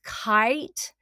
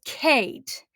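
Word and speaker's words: Khaite: kind of interpreted as kite maybe or kitey uh but guess how it's actually pronounced the name is a respelling of the nickname for the designer and the designer is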